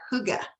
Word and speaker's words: hygge: oil I know it's it's Scandinavian and you pronounce that hygge but it's a it's